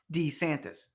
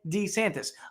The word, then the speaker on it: DeSantis: prefers what's your name the dueling pronunciations have tripped up others when DeSantis was sworn in for a second term as Governor in January Florida chief justice pronounced his name d santis why because the Florida chief justice has been hearing him say d santis for 10 years and then the governor repeated back DeSantis okay the chair of